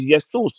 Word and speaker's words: Jesus: you as to why the correct pronunciation is yesus so you will have